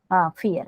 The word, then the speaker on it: vier: Fear. Why fear? Because according to the alphabets, V is pronounced as V.